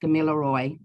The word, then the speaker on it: Gamilaroi: And it's actually pronounced Gamilaroi, but good try.